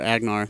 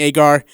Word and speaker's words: Agar: I was like, hey, how do you say her name? She's like, oh, it's Agar.